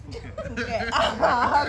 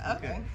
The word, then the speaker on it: Phuket: a chance to go to Thailand, go to Phuket, mm-hmm. and that's probably where I want to retire. So wait, it's pronounced Phuket? because I thought it was funny. It's Phuket. Okay, it's not. Yeah, it's Phuket.